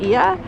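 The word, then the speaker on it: Oia: And then over here at the other end of the island is the town of Ia. It's spelled O-I-A if you see it.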